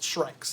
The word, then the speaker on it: Shrykes: It's SHRYKES. Shrikes. That's Just how like they're it. spelled. Just how you think.